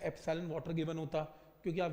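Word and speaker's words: epsilon: जैसे alpha beta gamma symbol होते हैं, ये एक सिंबल है, इस सिंबल को क्या प्रोनाउंस करते हैं? एप्सिलॉन।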